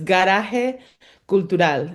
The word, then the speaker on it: Garage Cultural: We do try to stay true to our Spanish pronunciation, both in our name as an organization and me as an individual. So it's Garaje Cultural in Spanish.